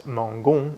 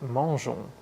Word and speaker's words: mangeons: Gaulle, and Guadeloupe, and when G comes before the vowels I and E, it's a soft G, as in gilet and général. So unless we want to pronounce mangon, we need to add an E after the G to make it soft and get mangeons.